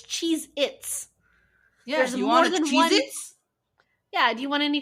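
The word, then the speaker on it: Cheez-It: of it but it's cheese itss there's more cheit yeah do you want any Chee itss like I have Chee itss it's nobody in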